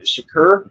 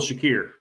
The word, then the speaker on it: Shakir: You go with Allan Coleman and Shakur. Is that how you say his name? Uh Khil Shakir.